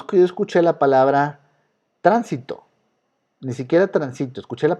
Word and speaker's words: tránsito: Pero tránsito, no es ni transito ni transitó, tránsito, acomodo la palabra y entonces es aguda. No, no es grave, no es aguda, no es grave, es esdrújula.